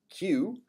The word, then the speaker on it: Kew: location the royal botanic gardens queue kew pronounced q and this is really